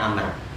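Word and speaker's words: عمرو: Kalau ada lafaz Umar kemudian huruf akhirnya itu wau itu bukan Umar. Bacanya amar kalau ada wunya belakangnya. Kalau enggak ada waunya belakangnya itu bacanya Umar. Kalau ada waunya belakangnya bacanya bacanya Amr.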